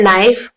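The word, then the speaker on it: knife: यहाँ पर लिखा है नाइफ, के साइलेंट है, के को मैंने बिल्कुल भी प्रोनाउंसिएशन में नहीं लेकर आई हूं तो के यहाँ पर आएगा।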